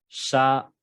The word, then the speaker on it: chapeau: Como la letra O, por ejemplo, en la palabra chapeau, chapeau, ¿ok?